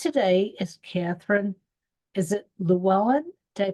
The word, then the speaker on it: Llewellyn: another my guest today is Catherine is it lellan did I pronounce it right that's exactly right yes wow